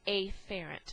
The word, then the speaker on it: afferent: pronunciation and enunciation, so I am going to say afferent, so you can distinguish between an incoming command versus efferent or efferent, which is an outgoing command.